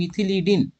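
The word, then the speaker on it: methylidene: উচ্চারণটা এটা হবে মিথিলিডিন।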